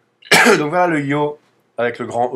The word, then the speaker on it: Ё: y mouillé donnera un y donc voilà le yo avec le grand E TR en majuscule d'imprimerie